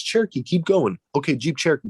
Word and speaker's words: Cherokee: about a jeep cherokee he couldn't pronounce cherokee so he said shiroki and when he said it he looked at me and i said what and i said it's cherokee but keep going and he